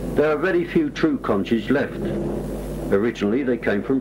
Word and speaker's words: Conch: The name Conch, the locals pronounce it conch, is taken from the